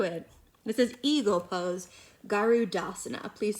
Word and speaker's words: garudasana: you can do it this is eagle pose garudasana please say garudasana now say it like you're not sure garudasana